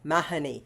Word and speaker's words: Mahoney: grandmother, Kathleen Seymour Mahoney, or Mahoney as it is pronounced in Ireland.